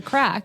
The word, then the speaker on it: craic: call it What's the Crack? Because basically that's how they greet each other or ask each other in Northern Ireland, and the crack is spelled as CRAIC.